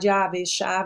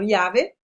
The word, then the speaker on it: llave: Chave, eu tenho llave, que se escreve com dois L's, então a pronúncia dela pode variar, tem gente que fala llave, chave mesmo, como se fosse um X, depende da região, né?